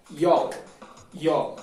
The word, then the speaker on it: y'all: Y se pronuncia y'all, ¿vale?